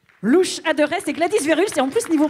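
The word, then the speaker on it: Gladys Verhulst: Louche Adorest et Gladys Verluch. Et en plus, niveau prononciation, c'est parfait.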